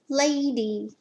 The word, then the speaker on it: lady: syllable word lay de lady let me tell you the trick if you're sounding out a word and the short vowel doesn't work then try the long battle that's the way